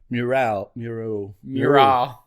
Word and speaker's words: mural: I call it a mural, but I get corrected all the time. Because it's mural. I don't know. It just sounds better like mural, like with more syllables, I think.